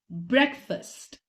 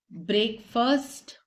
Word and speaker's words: breakfast: bouquet Bou moving on breakfast breakfast we've heard breakfast past quite commonly we've heard break first however these aren't correctly pronounced it's breakfast breakfast next